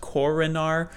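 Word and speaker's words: Korenář: type of pronunciation but according to the NHL at least this is what I found online it is pronounced Koren R I'm not hundred percent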